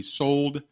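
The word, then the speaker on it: Souled: And it's spelled S-O-U-L-E-D. Sold, like Brothers of Soul.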